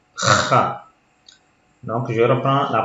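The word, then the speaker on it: خ: Et pour la troisième, Kha. C'est comme si vous allez cracher. Kha.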